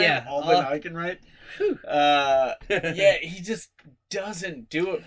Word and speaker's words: Alden Ehrenreich: But I just really don't like Alden Ehrenreich. Is that how you say his name? Yeah. Alden Ehrenreich.